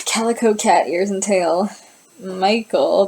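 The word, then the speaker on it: Mykle: Michael, but it's spelled like M-Y-K-L-E.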